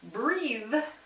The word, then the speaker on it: breathe: So, remember, breathe is the verb. Breathe. Verb. So, to pronounce the E right, you have to smile. Breathe. Like that.